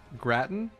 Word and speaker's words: gratin: say it in english so please teach me gratin huh all right that's fair wait did you just say gratin i'm even i'm having gratin no okay so angel says gratin oh gosh here we go again all right